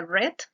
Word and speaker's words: read: en el caso de read se pronuncia red pero gramaticalmente se mantiene